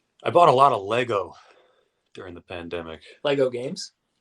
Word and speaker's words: Lego: Is the plural Lego? Am I saying it wrong? Am I saying Legos? Adding like the S, pennies? right? Adding the S is incorrect, but everyone does it.